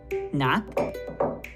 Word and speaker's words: knock: Knock and knob. We do not pronounce the K at the beginning of these words, just like we do not pronounce the K at the beginning of night.